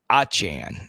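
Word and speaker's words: Achane: Wants to chat some Devon A-Chain, or should I say Achan. He's decided to change his pronunciation again.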